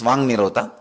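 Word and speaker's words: वाक् निरोध: Vak Nirodha only, when you pronounce it becomes Vang Nirodha.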